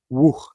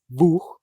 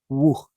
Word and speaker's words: Wuj: Entonces técnicamente ninguna, pero dice Sam Kolob que él prefiere W-U-J porque la pronunciación de Wuh es Wuh, no Vuh, no nada por el estilo. Wuh.